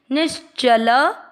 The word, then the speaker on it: निश्चल: नी के साथ में आधा श शंकर जी वाला, निश। च में अ का उच्चारण मिक्स, निश्चल।